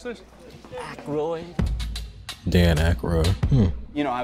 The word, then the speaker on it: Aykroyd: Chevy Chase, Gilda Radner, Dan, how the fuck do you pronounce this? Aykroyd.